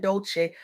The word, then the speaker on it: Dolce: I'm your host, Dolce. Uh, pronounced dole like sweet softness whispered in French.